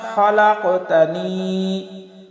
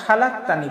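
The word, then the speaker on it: خلقتني: লা ইলাহা ইল্লা আনতা খালাকতানি। অনেক সময় দেখা যায় আমরা খালাকতানি পড়ি, আসলে খালাকতানি হবে না, হবে খলাকতানি।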